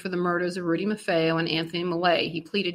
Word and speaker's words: Maffeo: I have to interrupt myself for a moment to say that one of our listeners told us the proper way to pronounce Marfeo, Maffeo, I believe, but Nina and I